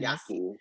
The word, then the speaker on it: Yaqui: Yaqui is how you pronounce that.